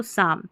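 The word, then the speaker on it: psalm: कालम यहां पर सा यहां पर इसको पाम करके पढ़ना है इसको साम। ठीक है? ये साम है। यहां पर पी साइलेंट है।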